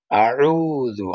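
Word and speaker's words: أعوذ: হামজা জবর আ, আইন পেশ, ওয়ায়ে জজম উ, আউ, জাল পেশ জু, আউযু।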